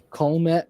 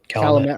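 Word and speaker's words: Calumet River: Um as it crosses um the uh Colt River, if I butchered that, I apologize. Calamett River.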